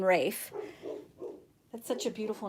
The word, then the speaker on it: Ralph: be silent and so the l in ralph r-a-l-p-h is silent and so it's actually pronounced rafe not ralph as in